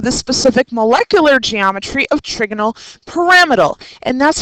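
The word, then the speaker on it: trigonal pyramidal: specific molecular geometry of trigonal paramal and that's how it's pronounced by the way trigonal paramal you want to lay on that second syllable bring all your Western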